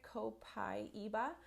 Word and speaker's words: copaiba: gonna move on to copaiba that's how you pronounce it copaiba this one is a godsend for mums with